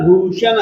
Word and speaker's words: भूषण: बोल रहे हो देखिए य जो हैना य टण वाला उच्चारण आप लोग ठीक नहीं कर रहे भुवन भूषण आप लोग शंकर वाले श का प्रयोग कर रहे हो जबक मैं जो